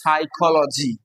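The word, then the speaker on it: psychology: সাইকোলজি। কিন্তু পিটা silent.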